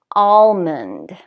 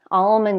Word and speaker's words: almond: l's are silent but in most dialects of English we do pronounce them for example almond almond is a very popular type of nut almond can you hear the L all almond calm palm balm balm